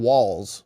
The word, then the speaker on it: Walz: and we'll see if Tim Walls rhymes with balls does that this is